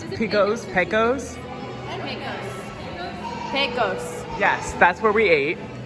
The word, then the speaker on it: Pecos: Pico's Grill? You say it because I'm going to pronounce it wrong. How do you pronounce Pico's? Pecos? Pecos.